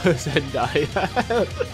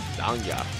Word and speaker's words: Zangya: Oh, Zen Gaia. Zangya.